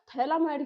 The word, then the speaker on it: phthalimide: थैलामाइड की reaction करानी है। ठीक है? थैलामाइड की रिएक्शन। तो बेटा ये क्या है आपका? थैलामाइड। बेटा पीस में साइलेंट होते है।